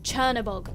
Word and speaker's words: Chernobog: notice or pointed out in the comments but Chernabog not a catalog which is why I said